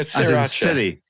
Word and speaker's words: Sriracha: What do you do with the first R? Basically, don't pronounce it. So just sir. Yeah, Sriracha. Sriracha. So you're mispronouncing it. You got to pronounce the R, surely. I don't think you do. It's more like a sure.